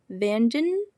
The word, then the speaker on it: Vandenhoek: The painter Dylan Vandenhoek, so how you pronounce that is Vandenhoek.